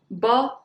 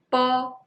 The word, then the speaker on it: bo: Well, bo and po, these two are very similar, but